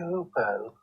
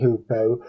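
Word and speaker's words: hoopoe: It's clearly hoopo. It is clearly hoopo, but there are two ways that one can pronounce it apparently.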